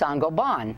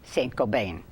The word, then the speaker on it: Saint-Gobain: we interviewed the CEO he told us it's pronounced Sango bond although he says most Americans say saint-gobain the worry over a chemical linked to cancer